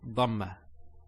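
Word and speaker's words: ضمة: So that's a ba with a dhamma. Notice when I say dhamma, it's very important. Some people actually they don't say it with a dad. They say it with a dal.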